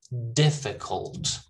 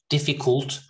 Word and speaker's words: difficult: a ball all right and then here difficult cult not cooled difficult it's difficult cult all right difficult stress